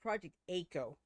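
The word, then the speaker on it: Project A-ko: Actually, it's pronounced Project AKO. Oh, AKO? Oh, yeah, the O is lowercase.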